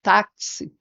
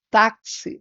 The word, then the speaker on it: táxi: a gente sabe que esse táxi a gente pode representar esse som do X né como k s então nós teríamos quatro letras mas teríamos cinco fonemas né então quatro letras e cinco fonemas a palavra Ora por